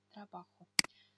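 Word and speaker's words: trabajo: Обратите внимание, что здесь буква хота, этот предпоследний, читается как х, трабахо.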